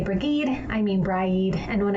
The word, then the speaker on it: Brigid: who has kindly informed me, that it is pronounced Bry-eed.